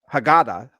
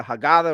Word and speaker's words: Haggadah: The Haggadah. And I'm pronouncing it that way so others can pronounce it. I could pronounce it more properly, but I'm just, or the Haggadah, or the Haggadah, or Haggadah.